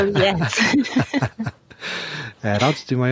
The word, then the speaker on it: Hales: Hales, not Hayes, as Andy might spell it, right? You got it right. Hales.